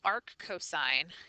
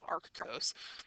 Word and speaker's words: arc cosine: looking for arc cosine so arc cosine is the way that you pronounce this not Arcos right so if I